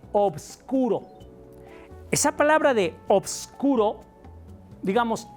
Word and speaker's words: obscuro: Fíjate cómo lo dije con B. Oboscuro. O vs. Oboscuro.